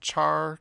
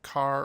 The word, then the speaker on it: char: variable called a character normally pronounced char car or care depending on the person you'll hear at all three ways and this can hold